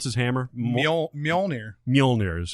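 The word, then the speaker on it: Mjölnir: How to pronounce his hammer? Mjolnir. Mjolnir. Is how it Yeah. is. Huh? No, it's Moliganor.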